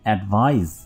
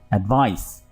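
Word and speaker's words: advise: यू एडवाइज मी, और आपकी जो प्रोनाउंसिएशन है, जो तलफ़ुज़ है, वो भी एडवाइज आनी चाहिए, ना कि एडवाइस और एडवाइज, यानी वाइब्रेशन आ रही है आपके दांतों में, ठीक है।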